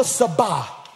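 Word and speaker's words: Tsaba: Jehovah Sabah.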